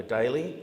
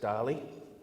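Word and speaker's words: Daly: dinner hosted by Governor Daley which I think is actually more correctly pronounced Darley among the dishes the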